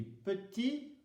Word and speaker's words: petit: Si c'est masculin, petit, le T ne se prononce pas, le E ne se prononce pas.